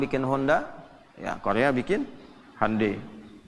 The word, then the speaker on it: Hyundai: Honda ya Korea bikin hundai Hyundai bacanya hundai kemudian sana masuk Piala